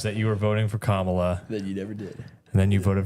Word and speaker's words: Kamala: thank you to all the Democrat husbands out there who told your wives that you were voting for Kamala.